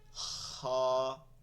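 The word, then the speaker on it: خ: যে দুইটাই কি হা এরপরে নুক্তা দিয়ে উপরে খা এইটাও খ হবে না বাংলায় যে খ বলি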